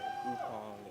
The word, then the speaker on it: Ukpong: Don't pronounce it K. Upong.